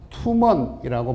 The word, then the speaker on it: 투먼: 용비어가에서 두만강을 뭐라고 발음을 하느냐면 여기 보면 이란두만이라고 해놓고 발음을이란 투먼이라고 발음한다라고 돼 있습니다.